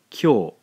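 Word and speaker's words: きょ: When we blend these two syllables together, we end up with a single syllable again. Kyo.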